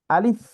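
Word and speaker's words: ألف: বাতাসটা চালু থাকবে, আলিফ, আলিফ। আবার মুখে হাসি ভাব বলতে মুখটা ছড়ানো থাকবে আর কি, আলিফ, আলিফ।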